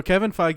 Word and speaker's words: Kevin Feige: no, Kevin Feige is how you pronounce his name.